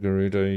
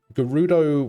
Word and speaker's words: Gerudo: When you first saw the word Gerudo, you did a soft G, like in the word German. Oh. Gerudo, interesting. The Gerudo with a soft G sounds weird to me for some reason.